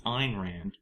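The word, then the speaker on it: Ayn Rand: who irand yeah yeah because she ined start pronouncing her name properly then what how do you say it it's irand it's a YN it's clearly n it's irand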